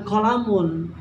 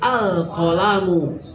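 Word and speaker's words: القلمُ: alif lam atau diawali cara membacanya juga beda bukan qolamun tapi alqolamu Nah itu ya Jadi alqalamu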